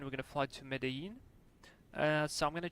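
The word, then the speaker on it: Medellín: to Medí or Medí how they pronounce it in Colombia. It's like with J Medin.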